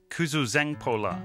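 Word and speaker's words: Kuzuzangpo La: Kuzoo Zangpo La, five syllables just to say hello. Fortunately, they spoke a bit of English.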